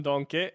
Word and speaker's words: Denkey: on the topic of Kevin donkey that's how you should pronounce it that's how we pronounce it himself a few weeks ago